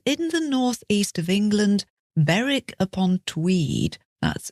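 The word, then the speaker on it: Berwick: quite well and in the northeast of England baric upon weed that's b e r w i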